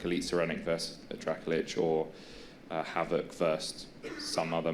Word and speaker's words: Dracolich: Yeah, the comparison there as well for reference is, well, I was about to give a reference, but it's the Dracolich. Is that how you pronounce it?